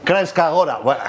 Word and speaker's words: Kranjska Gora: Kranjska Gora.